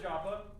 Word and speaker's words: Jaffa: of Joppa or Jaffa it's pronounced both ways you'll see it spelled both ways of my presentation because I don't know which way is the is the favored way uh so Jaffa Joppa uh which is something